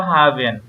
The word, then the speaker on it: haben: তো আমরা ইংলিশে যদি বলি হ্যাভ, সেটা হচ্ছে আমরা জার্মানিতে বলবো হাভেন। এটার উচ্চারণ হবে কি?